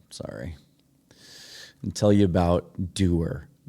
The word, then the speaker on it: Duer: And tell you about Doer. Doer is built for doing. It's spelled D-U-E-R, but think about that catchphrase.